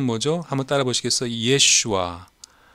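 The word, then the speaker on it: ישוע: 예슈아. 요게 시리아 또 아람어 예수님의 모국어예요. 예슈아라고 예수님 본토 발음은 예슈아죠.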